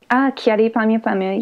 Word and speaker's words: Kyary Pamyu Pamyu: this podcast now you've met what's-her-name I always mispronounce her name cha D P mu P mu right Kyary Pamyu Pamyu yeah I interviewed her for Tokyo girls collection